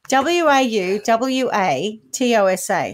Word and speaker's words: Wauwatosa: is well while we're toast in Milwaukee County w-a-u-w-a-t-o-s-a how would you say that Milwaukee County Wisconsin on the 6th of October 1926.